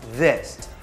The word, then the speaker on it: this: ว่า this สกด ว่า t i อิ ว่า this ภาษา อังกฤษ มี 2 เสียง สำหรับ ออก เสียง